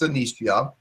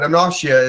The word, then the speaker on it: Anoshia: It can also be pronounced Anishia, but Anoshia is preferable.